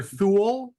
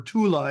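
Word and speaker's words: Thule: you a vegan right I would use either THU which is what you say English or Tula in German it's not yeah so Tula or th either way so he was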